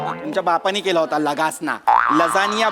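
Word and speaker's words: lasagna: दिवशी आपण हा खाऊया लगासना खाऊया लगासना तुमच्या बापाने केला होता लगासना लजानिया बोलता येत नाही स्पेलिंग वाचून लगासना बोलता तुम्ही तुमच्या बापाने केला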